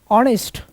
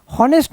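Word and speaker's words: honest: honourable person इसके बाद ऑनेस्ट होनेस्ट नहीं है एच साइलेंट है होनेस्ट क्या पर्सन समझ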